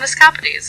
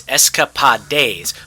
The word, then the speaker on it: escapades: Melody, you have been disrespecting my heritage and pronouncing my name incorrectly. Have I? Escapes. Is that correct? No, that is not correct. It's Escapad like how you pronounce De Moines.